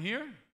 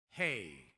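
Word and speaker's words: ה: This one here y este aquí is repeated twice. Está repetido dos veces. Here we have. Aquí tenemos. It's pronounced hey, not he. Se pronuncia e. Hey, hey. Okay?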